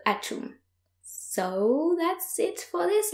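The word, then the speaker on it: atchoum: And the noise that you're making when you're sneezing is achoum. So in English it's achou or something like that. In French it's achoum.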